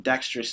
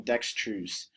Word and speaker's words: dexterous: Assimilation occurs for this word because saying dexterous is easier than saying dextrous.